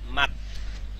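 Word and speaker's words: 맞: মাত। উচ্চারণ কি? মাত। মাছ। মাত মাত। জিউতের ত মাত। নিচে বসলে তো জিউতের ত উচ্চারণ হবে, শেষ বর্ণ।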